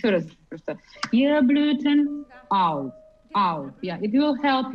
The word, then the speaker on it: auf: Here, auf has to be with glottis, yeah?